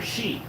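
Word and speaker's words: Hsi: Book 261, Xianbei, Wuhuan, Khitan, and Shia, or Shi. H S I, that should be Shi.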